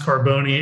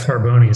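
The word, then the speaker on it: Carbone: yeah antonio carboni yeah it's actually pronounced carboni in italy it was uh spelled with an eye but yeah probably at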